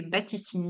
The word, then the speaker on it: Baptistine: Baptistine, on prononce pas le P. Baptistine.